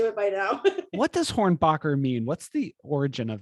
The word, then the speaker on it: Hornbacher: that was easy and now i'm hornbacher and they're like horn hornet boxer horn you know so i have to spell that too so i'm used to it by now what does hornbacher mean what's the origin